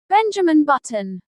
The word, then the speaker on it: Benjamin Button: Benjamin is pronounced as Ben-ju-min. Button is pronounced as But-t-n. Benjamin Button.